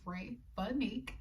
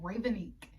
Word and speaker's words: Ray Budnik: my name right because my name is ray budnik and most people get it wrong ravinique and she was pronouncing